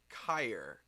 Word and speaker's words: Cayer: some review work with they're called kyer and I think that's the right way to pronounce it's ca ye are there a tripod company